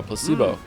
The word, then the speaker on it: placebo: me precocious Placebo oh Placebo the stress is on the middle cind Placebo Placebo very